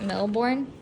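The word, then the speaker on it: Mille Bornes: card game we're playing how do you say it milborne a classic racing game it's French it's really fun and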